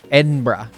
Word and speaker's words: Edinburgh: you say it Edinburgh Edinburgh Edinburgh even though it has b-u-r-g in it you're supposed to say brah Edinburgh oh it's sticks